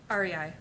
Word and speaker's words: REI: Is that re or rye pronounced? REI.